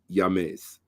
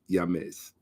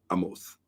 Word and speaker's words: Ahmose: more correctly pronounced shaka yames okay if you're going to do the correct pronunciation it's actually yamez but uh i use the uh western orthographic pronunciation which is um amos okay um so uh